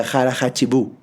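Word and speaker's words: hara hachi bu: Creo que se pronuncia Hara Hachibu.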